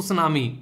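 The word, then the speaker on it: tsunami: को मिलती है जिसको तो सुनामी टी साइलेंट होता है सुनामी होता है टी एस यू एन ए आई ठीक है ये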